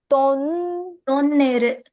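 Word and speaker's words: トンネル: To If you and go by the English pronunciation, you'll make a mistake. It's tunnel, but in Japanese it's to. tonneru.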